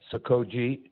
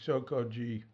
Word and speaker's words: Sokoji: So yeah, it's hard for me they tend to say it sort of evenly, Sokoji.